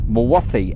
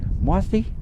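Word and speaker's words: Mawddwy: Dinas Mwathi, Mawddy, is it? Mwathi? See, 2 D's mean so Mwathi.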